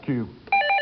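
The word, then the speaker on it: queue: For 20 points, what is the 5-letter word in English whose pronunciation isn't changed by removing 4 of its letters? Another word brain teaser for you. Alvin, Kevin. Q.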